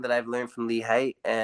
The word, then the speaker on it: Haight: People pronounce it Haight. It's not Haight. It's Haight. I'm a lover, not a hater.